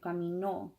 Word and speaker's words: caminó: And we have to punch that O on the end, caminó.